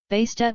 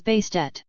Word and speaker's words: Bastet: additional feminine suffix, as Bastet. The name change is thought to have been added to emphasize pronunciation of the ending T sound, often left silent.